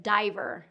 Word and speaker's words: diver: So that's why this has a different pronunciation than river, is we get diver because dive is the root word. And that dive follows the rules of American English pronunciation with the long I because of that E that's there. Now let's move on to thread.